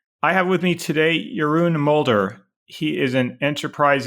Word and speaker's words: Jeroen: in the area of multi-cloud and hybrid Cloud yurun welcome to software engineering radio thank you very much and compliments for pronouncing my name for being non-dutch I do